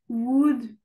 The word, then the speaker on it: would: Pour ces mots que tu vois ici, Oui. prononce jamais le L. Ah, d'accord. Jamais. Vas-y, essaie de me les redire. Could, would, should, talk, walk.